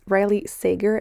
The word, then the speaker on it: Riley Sager: to take the time to correct myself it's riley sager i keep mispronouncing it and it's bothering me when i'm